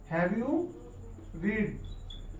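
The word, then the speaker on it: read: How many lessons have you रीड, रीड का third form है ये, रेड प्रोनाउंस किया जाएगा।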